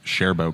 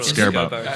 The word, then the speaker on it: Sherbo: that's the first time I ever pronounced sherbo correctly it's it's sherbo not scarbo see I think it's